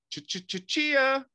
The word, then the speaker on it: Chia: Chia, the crypto coin that grows all over your disks. And no, that was not a mispronunciation. It really was.